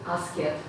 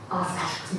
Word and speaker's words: asked: Do not say asked. Asked. Yeah, we do not pronounce ed. Yeah. Okay, only asked.